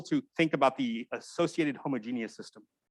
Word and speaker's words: homogeneous: I guess in other disciplines, you pronounce that homogeneous, but mathematicians for some reason say homogeneous. I don't know why. Like heterogeneous when we say heterogeneous.